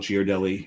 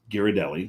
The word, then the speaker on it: Ghirardelli: It's Ghirardelli. Mm-hmm. There's a sign on the wall that tells you how to pronounce it, but also it's Italian. You put an H after a G, it's a hard G.